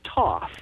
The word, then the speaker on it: Thoth: others are correct but if you go to Egypt and you talk to the Egyptians and you talk to the head of the Antiquities they say TOS so that's good enough